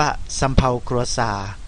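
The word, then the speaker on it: សៀវភៅគ្រួសារ: ทะเบียน บ้าน นะ ครับ ทะเบียน บ้าน ทาง กัมพูชา ออก เสียง ว่า สำเภา กัวซา สำเภา กัวซา นะ ครับ หมาย ถึง ทะเบียน บ้าน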